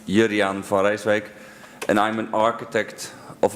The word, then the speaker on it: Jurriaan van Rijswijk: My name is very well pronounced Juriaan van Rijswijk, and I'm an architect of applied games.